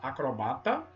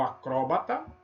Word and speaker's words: acrobata: Você pode falar acrobata ou acróbata, crisântemo ou crisantemo, oceania ou oceânia, réptil ou reptil, projetil ou projétil. Então essas duas variantes, nessas palavrinhas aí, e mais algumas, tá?